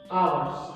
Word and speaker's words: hours: Playing hockey for 4 hours. I told you hours. Each is silent here as well.